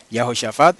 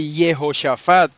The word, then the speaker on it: Yahoshafat: En arameo no se dice Yehoshafat como se dice en hebreo, ¿verdad? Y Yehoshafat es un nombre hebreo, pero en el texto arameo no se dice Yehoshafat, se dice Yahoshafat.